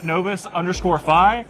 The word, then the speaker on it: Novus: So we're checking out Novus right now, and it's really interesting because I don't know if you've ever dealt with blockchain data.